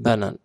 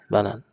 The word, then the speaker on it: banane: Regardons ici, même il y a la lettre, il y a les lettres AN, mais ça ne prononce pas en, on dit banane.